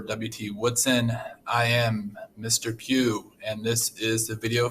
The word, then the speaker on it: Pugh: Pugh and this is the video for computer science. So as you can see here, my full name is Pugh, which rhymes with through.